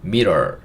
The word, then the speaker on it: mirror: R 2개지만 한 번만 발음해요. 리을. 그 다음에 O는 어소리고요. 마지막에 있는 R은 약간 R 혹은 근데 or 하면 약간 소리가 이상하니까 소리가 맞겠네요. 네. 그래서 이거는 mirror 이렇게 읽을 수 있고 mirror가 거울이에요.